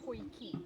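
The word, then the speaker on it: potjie: and it's pronounced poiki. Poiki. Because it's an Afrikaans word.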